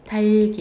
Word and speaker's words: 닭이: 달기 이렇게 발음돼. 이거 굉장히 중요해. 이거 부엌에 이렇게 발음하듯이 달기. 니네 닭이 끝소리 탈락시키고 닭이 이렇게 발음하면 이거 안 됩니다. 형식 형태소가 오면 어떻게 하라고요? 바로 뒤에 게 연음됩니다. 달기 이렇게 연음돼요.